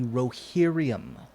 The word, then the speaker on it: Rohirrim: The way it was spelled in the books, my understanding is that it is the Rohirrim, Okay.